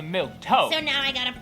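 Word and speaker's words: milquetoast: be plain old boring milky toasty Diana Duane uh I think it's actually milk toast so now I got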